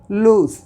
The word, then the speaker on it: lose: Okay, लेकिन यहीं पर हम अगर ये कहते हैं LOSE, तो इसे हम थोड़ा, इसमें ज का उच्चारण होता है लूज।